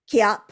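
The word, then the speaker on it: kihap: But in Taekwondo, they say kiap. yep, It's like ki hop.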